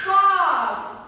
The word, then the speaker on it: fox: While we are pronouncing, it automatically becomes as A. Okay, the spelling is O and the pronunciation is A.